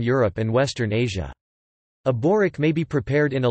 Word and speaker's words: Börek: Börek Turkish pronunciation, B-O-stroke-ek, also Börek and other variants, is